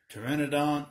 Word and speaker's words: Pteranodon: me and we have Pteranodon or printed on you know a lot of people we know they don't know that the P is silent useless facts I know